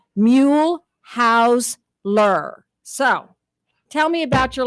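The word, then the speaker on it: Mehlhaeusler: last to say her last name simply say mule house lur so tell me about your last name well a German professor said that I mispronounced it when I was working at St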